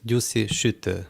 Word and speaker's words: Gyuszi Sütő: Gyuszi Sütő, or actually the way it's pronounced in Hungarian is Gyuszi Sütő.